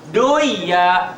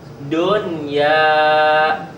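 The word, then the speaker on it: دنيا: Jadi jangan duya. Kenapa dibaca duya? Kan nun mati ketemu iya, betul. Buyan, betul idgham, tapi salah. Karena di sini ada pengecualian. Jadi dibacanya idhar, jelas. Dunya, bunyanun, sinwanun, qinwanun.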